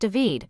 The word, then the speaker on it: David: There was a distinct age gap between herself, Suz's partner, David, pronounced Deved, and the geriatric set. And there were only two men, Devid, and Charles.